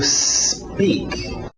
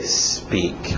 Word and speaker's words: speak: To speak. To speak. Cuidado com essa pronúncia. A tendência desse S antes do P, quem fala português, é querer colocar uma vogal de apoio, dizer to speak, porque a nossa letra